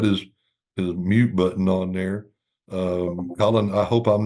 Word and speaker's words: Collin: Collin, I hope I'm not mispronouncing your name, partner.